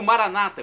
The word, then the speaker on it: Maranata: na última sílaba ou Maranata com a tônica na penúltima sílaba como dizem nossos irmãos